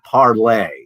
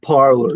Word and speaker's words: Parler: It was supposed to be parlay, to speak in French, but all the right-wing nitwits, Parler, it's spelled Parler, it's Parler, right? Not parlay.